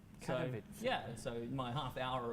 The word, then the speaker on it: Katowice: Yeah, so Inman has just pointed out internally how they say it at ESO, Katowice. So, Katowice.